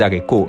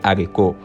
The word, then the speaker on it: haricots: on dit pas les haricots mais on dit les haricots on dit là on dit pas on dit pas l'Hérault on dit le héros c'était tout pour aujourd'hui